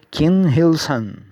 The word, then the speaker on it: Kim Il-sung: escreve, como se pronuncia, Kim Il-sung. Esse aqui é I-L, ok? Pronuncia-se Il.